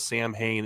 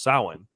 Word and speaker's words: Samhain: it wrong and says samhain in the film which is how you would think it's pronounced but it is a celtic word so it's pronounced samhain not sure how the